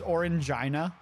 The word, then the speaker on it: Orangina: I'm sorry, that name, I'm assuming it's pronounced Orangina, which just makes me think of a infected vagina.